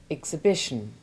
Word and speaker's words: exhibition: The H is sounded in exhale and exhume, but is silent in exhaustion, exhibition, exhilarated, and exhort. It's a challenge to make